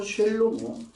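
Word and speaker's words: שלמה: 그래서 초대왕 샤울왕이 주어졌고 두 번째 왕 다비드가 두 번째가 주어졌고 세 번째 왕 쉘모 솔로몬이 아니고 쉘로모 이브리어에는 솔로몬이라는 단어가 없습니다.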